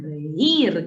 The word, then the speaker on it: reír: No es hazme reír, es hazme reír, con acento en la I, en la débil, en la cerrada.